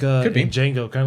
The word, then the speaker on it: Django: Kind of like uh Django. Kind of like in Django. The D is silent. The D is silent. He's talking to the real Jango.